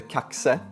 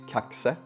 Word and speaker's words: Kaxe: The first one that I showed you in the intro is the new run of the Kaxe. Yes, that's how it's pronounced, not Kax. It's Kaxe, which has the number 6502, which is the same numbers as the old Kaxe Z or Kax C.